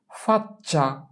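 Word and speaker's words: faccia: শেষের চিটার উচ্চারণ যা হবে প্রথম চিটার উচ্চারণ ঠিক তাই হবে। তাহলে চি এর উচ্চারণ হয় এখানে CEA চ এর মতো চা, তাহলে এটার উচ্চারণ হবে চ এর মতো। FAC ফাচ, CEA চা, ফাচ্চা।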